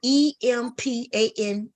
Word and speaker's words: empanada: How you pronounce it? Start with Empanadas.